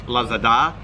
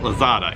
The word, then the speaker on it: Lazada: What we have over here is pronounced Lazada, but Westerners always call it Lazada.